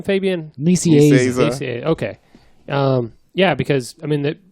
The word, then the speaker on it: Nicieza: Nicieza.